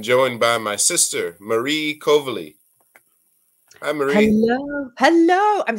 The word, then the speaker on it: Coveley: inner today I'm joined by my sister Marie kovali hi Marie hello hello I'm so happy you pronounced my last name right that's awesome great